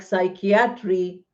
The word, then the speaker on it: psychiatry: Any word associated with psychology, like psychiatry, or psychiatrist, or psychologist, or psychoanalyst, are all words which have P silent.